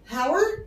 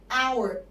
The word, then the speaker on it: hour: طيب تعالى our، هل احنا نطقنا الاتش؟ قلنا hour؟ لا، قلنا our يعني نطقنا الصوت الفاول لازم احط قبليه ان، فساعتها اقول an hour ليه؟ عشان نطقنا صوت الفاول في الاول.